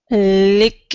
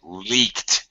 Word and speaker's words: leak: of the press uh lick it lick lick it lick okay T pronunciation leak leaked leak leaked okay leaked there you go all right